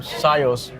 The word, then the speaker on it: SIOS: today we have with us Gerry Melnick from Cius did I say it right you said perfectly